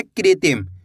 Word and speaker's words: कृत्रिम: की मात्रा कृति म तो मिलके बन जाएगा कृत्रिम कैसे पढ़ेंगे कृत्रिम क्लियर है अगर दोस्तों आपसे इस मात्रा का सही से उच्चारण नहीं हो पाता अगर आप शब्दों को